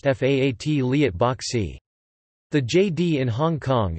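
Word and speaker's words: 法律博士: boshi in chinese and in cantonese it is pronounced faat liat bok c the jd in hong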